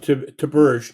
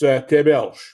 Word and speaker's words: Theberge: Last name is it's pronounced Theberge, Theberge. In French, it's Theberge.